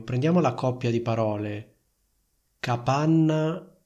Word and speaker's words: capanna: Quindi sentite la differenza tra la N di capanna e la N di campana. Capanna, campana. Capanna, campana. La doppia N fondamentalmente è più forte, più evidente, più lunga della N singola.